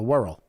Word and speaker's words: Wirral: The Wirral.